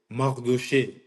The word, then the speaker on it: Mardoché: So my name actually is Mardoché, which is a direct translation of the Hebrew name Mordecai. Okay. So when you look at the name Mordecai in the Bible, it's he was the uncle of Esther.